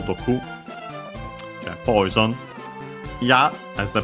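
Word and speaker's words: 毒: Accent on the last syllable, Doku.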